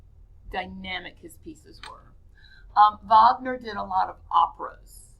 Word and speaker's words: Wagner: Wagner. I know that says Wagner, but it's pronounced Wagner.